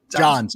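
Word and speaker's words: Jahns: Adam uh Adam yons how do you say his last name Johannes John's okay I thought I had it um Matt eberflew said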